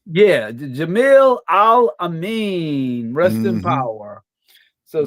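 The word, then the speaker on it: Jamil Al-Amin: Jamil Alameen. Yeah, Jamil Al Amin, Rest in Mm-hmm.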